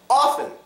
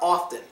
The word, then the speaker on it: often: we already went through it's often or often that one is your choice but it does follow the rule you could go either way with it so you know what